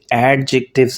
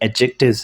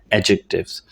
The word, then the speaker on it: adjectives: सबसे पहले तो ये जान लें कि जो वर्ड है ये एडजेक्टिव्स नहीं है, ये एडजेक्टिव्स है। गो के इसमें डी लिखा हुआ है ए के बाद, लेकिन हम इसे प्रोनाउंस नहीं करते, ये साइलेंट होता है, तो हम इससे पढ़ते हैं एडजेक्टिव्स।